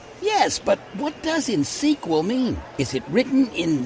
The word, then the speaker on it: InSQL: I see they've helped you pronounce InSQL. Yes, but what does insequel mean?